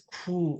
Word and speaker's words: 고: So especially 고, you use that as a connector for 이거를 먹고 저거를 하고, you go a lot, right? 이거 하고 저거 하고, but we use 구 for pronunciation.